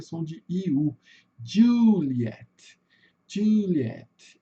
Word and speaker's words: Juliet: Não vejo pessoal tendo muita dificuldade como Juliet. Lembrando apenas, né, pessoal, que o som de J em inglês vai ter som de DJ.